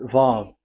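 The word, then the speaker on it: וו: So it's V as in Vogue. So it's really V. How to read Vogue? So the word, the shape Vav is really pronounced V, like Vogue. That is it, pronunciation. So here in this side, it's pronunciation. This is pronunciation. So according to the old Hebrew word today, those who, the owner of the word, I mean, so it's a V. So don't change it into W.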